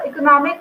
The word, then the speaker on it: economic: So economic we give secondary stress to this eco, and then nomic. Nomic we have another two syllables. So here we are giving the primary stress to nomic.